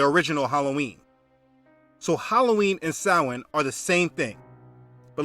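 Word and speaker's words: Samhain: cursed and threatened now the word doesn't look how it's pronounced Salman is a knight celebrating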